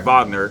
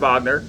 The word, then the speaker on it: Wagner: nba for michigan or wagner i'm sorry wagner my bad my bad wagner they pronounce it different um so now they